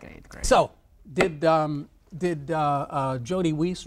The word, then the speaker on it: Jody Weiss: So, did Jody Weiss, Rhymes with Peace, deserve that 76 grand that he got for his vacation pay?